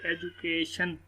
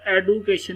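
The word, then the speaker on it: education: जिस तरह एजुकेशन, मैंने नीचे देखिए ये लिखा हुआ जी एजुकेशन, इसको एडुकेशन नहीं पढ़ना, डी यहाँ पर साइलेंट और साइलेंट का वाले मैं बता चुका हूँ।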